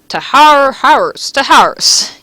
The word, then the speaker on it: Taharus: So, I'm gonna talk today about a little monster called Taharus.